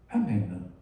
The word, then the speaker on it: Amen: Comment dit-on le caché comment prononce-t-on ce mot en hiéroglyphique? Amen. On dit Amen.